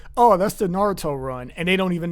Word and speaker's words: Naruto: He said Naruto.